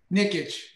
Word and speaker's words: Nikic: guide and for chris and i'm going to mispronounce his name so how about you say it for me dan nickitch nickitch okay awesome so for chris nickitt she